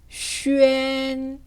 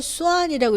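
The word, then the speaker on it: xuan: 네, 그 다음 C와 위엔이 결합이 되었어요. 표기할 때 마찬가지로 점을 뗐어요. 어떻게 읽을까요? 그렇죠. 슈엔. 네, 이 발음을 수안이라고 읽으면 틀리게 됩니다.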